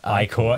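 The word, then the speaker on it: Ichor: It's pronounced I-core.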